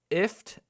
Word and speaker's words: IFTTT: IFT, which is spelt IFTTT.